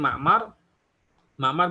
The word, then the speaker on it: Ma'mar: Kemudian Ma'mar bin Rashid. Taib, kaidahnya kecuali 3 orang yang dibaca Mu'ammar. Selain 3 orang tersebut dibacanya Ma'mar.